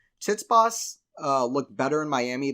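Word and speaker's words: Tsitsipas: go either way and I say it like this tits boss uh looked better in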